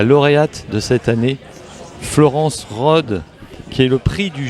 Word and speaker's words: Rhodes: de cette année, Florence Rode, qui est le prix du jury 2022. Florence Rode, bonjour. On dit bien Rode ? On dit Rode, oui, c'est ça. Le S ne se prononce pas.